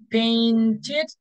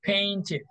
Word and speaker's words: painted: foreign very good exactly we had an extra syllable paint only one painted two syllables painted okay very good the